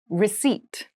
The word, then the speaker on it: receipt: service meal room service meal room service meal receipt receipt receip receipt has a very interesting spelling